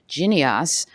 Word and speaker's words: Jynneos: And as you just heard from our FDA colleague, in 2019, a third-generation vaccine by Bavarian Nordic, which I now recognize is pronounced Jynneos, was licensed by FDA.